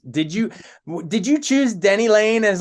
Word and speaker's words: Denny Laine: you did you choose Denny Lane as like a rhyme with Penny Lane or was it mostly because of Frankie Lane no no I kill people who call me Penny Lane Denny Lane is in